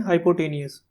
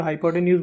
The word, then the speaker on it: hypotenuse: know that hypotenuse square कुछ लोग इसे बोलते हैं हाइपोटेनियस, तो आप जैसा भी इसको प्रोनाउंसिएट करना चाहें कर सकते हैं। तो मैं यहाँ पर हाइपोटेन्यूज बोल रहा हूँ।